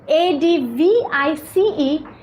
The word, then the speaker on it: advice: the difference right the first one which is a d v i c e it is pronounced as advice okay s right the word